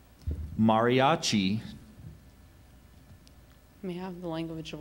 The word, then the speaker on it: mariachi: guitarists and of violinist are there any alternate pronunciations I just have mariachi Mariachi m a r i a c h